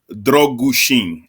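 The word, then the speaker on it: Drăgușin: forgive me ru but it's dushin as in drug goo and shin drin so so there there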